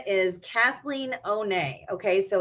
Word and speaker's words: Honne: her name is Kathleen Oh nay okay so it's H o N and E but it's pronounced ohne so if like Lisa Bonet comes to mind Kathleen is also beautiful